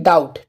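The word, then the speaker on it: doubt: एक एग्जांपल लेते हैं जैसे कि डाउट ठीक है डाउट डी ओ यू बी टी डाउट ठीक है तो यहां पर भी देखें बी के बाद में क्या आया है टी तो यहां पर बी क्या है बी हो जाएगा साइलेंट ठीक है तो थ्योरी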